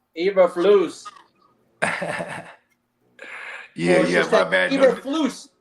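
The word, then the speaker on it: Eberflus: too hey crooked says say his name right it's ebra flu EA e flu Oh Eva flu yeah yeah my bad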